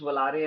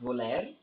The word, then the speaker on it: Volare: this this volare the zemper lavolare again it's pronounced valarie and not voler so that's a commoner mispronunciation costa enthusiasts make